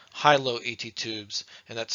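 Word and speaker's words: HiLo: comes with subglottic suction they are commonly called high low ET tubes and that's spelled h-i-l-o the majority of intubations at UMC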